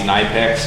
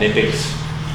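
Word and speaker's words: Knipex: All right, we got our fancy, I like to call these Nipex, some people call them Nipex, whatever, doesn't matter. You're saying it wrong, but it's Nipex.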